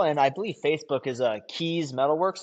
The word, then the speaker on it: Kees: so my Instagram handle and I believe Facebook is Keys Metalworks, and Keys is spelled Kees.